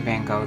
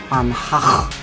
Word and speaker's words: Van Gogh: And I think that it's pronounced Van Gogh. The G is pronounced like in Dutch, and the H on the end is silent.